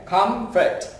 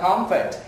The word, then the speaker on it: comfort: ơ ơ, đúng nhỉ, comfort đó, comfort. Anh chị đọc đúng hai âm tiết thôi, comfort.